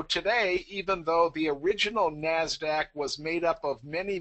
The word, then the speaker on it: NASDAQ: the other large exchange we have is the NASDAQ and again that's the usually accepted pronunciation and that's the National Association of Securities